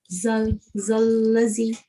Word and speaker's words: الذي: Okay, sister, everything is good, but don't pronounce that with za. This is wrong. الذي. All of them, you make them za. It is actually the wrong sound.